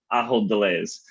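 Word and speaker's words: Ahold Delhaize: remind myself and the audience how to properly pronounce our gold pairing company's name i hold delays um so allah delays is one of the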